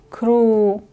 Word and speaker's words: ครู: ค ร ู ค ร ู Кру.